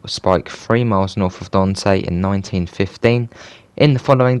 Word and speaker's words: Dante: the ccno had reached dante rhymes with ants virginia a tiny village